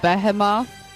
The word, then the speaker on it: behemoth: It's actually pronounced behemoth.